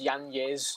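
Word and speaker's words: Yáñez: Apparently, it's Yanez. That's how you say the name. He's just said this recently. That's how you say it. So I'm going to respect him. I'll call him Adrian Yanez.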